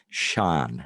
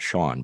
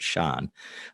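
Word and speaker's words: Sian: because that actress uh whose name is uh Sean Davis and it's uh spelled s-i-a-n it's pronounced Sean not Sean but Sean um she's Welsh so uh maybe they were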